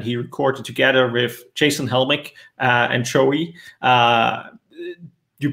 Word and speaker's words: Helmick: i am here with joey aiello and jason helmick i pronounced that right did i yeah you got